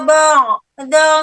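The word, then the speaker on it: بعد: Ba'da ba. Nah, jadi ba bukan soa. Tadi kebacanya soa. Ba'da.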